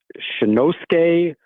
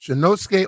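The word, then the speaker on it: Shinnosuke: I'll let you tell me how to pronounce it. All right, I believe I have it finally. It's Shinosuke Ogasawara. Okay. Ogasawara. What do we need to Ogasawara. know here? Shinosuke Ogasawara.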